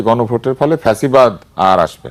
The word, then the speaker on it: ফ্যাসিবাদ: ফ্যাসিবাদ সব এটার আসল উচ্চারণ হচ্ছে ফ্যাসিবাদ। ফ্যাসিস্ট কিন্তু আমরা এটাকে ফ্যাসি বলি। কারণ দন্তস দিয়ে বানান করার কারণে।